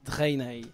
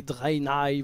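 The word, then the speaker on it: Draenei: après bien sûr les drainés les drainés les drynails vous prononcez comme vous voulez donc les drainés est-ce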